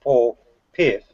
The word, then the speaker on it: Paul Piff: I know his name is pronounced Paul Piff.